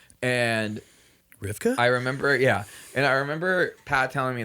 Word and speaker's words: RVCA: For those who don't know what that is, that's the RVCA clothing brand that everyone wears, and they have no idea how to pronounce it. It's called Ruka. And Rivka?